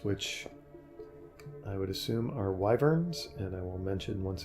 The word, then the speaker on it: wyvern: I would assume our wyverns and I will mention once again that pretty much my entire life I've pronounced them incorrectly as wormans just some weird quirk